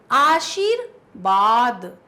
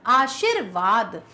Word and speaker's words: आशीर्वाद: शब्द का चयन करो आशिर बाद आशीर्वाद कौन सा सही होगा जी हां बिल्कुल सही आशीर्वाद वी का उच्चारण है यहां पर बा गलत प्रयोग है ये दोनों लगभग एक